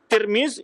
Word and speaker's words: Tirmidzi: Tirmiz itu berbeda-beda cara baca. Ada yang baca Tirmiz dengan baris di bawah tanya, ada yang baris di atas Tarmizi, Tirmizi atau Turmuz. Tapi yang masyhur dibaca adalah Tirmiz.